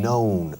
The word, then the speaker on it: known: Known. Ciérrame más la O.